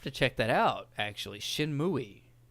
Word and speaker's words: Shenmue: Shenmue. That's how the Japanese pronounce it.